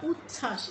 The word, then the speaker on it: উচ্ছ্বাস: উজ্জ্বল, বর্গীয় জ দুইবার, তার নিচে ব, আবার উচ্ছ্বাস, এখানে কিন্তু চ ছ দুটো কিন্তু ঠিকই উচ্চারণ করছি, শুধু বটি উচ্চারণ করছি না, এরকম হয়ে থাকে, উচ্চারণ হয়ে থাকে।